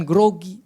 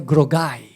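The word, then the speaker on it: groggy: Jadi tapi bacanya bukan grogi, bacanya grogai. Kan bahasa Inggris kan itu I gitu ya.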